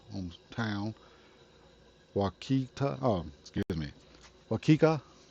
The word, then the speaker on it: Waukeka: Oh, excuse me, Waukeka. Waukeka. It's a weird name, I know. Uh, but it's spelled Waukeka.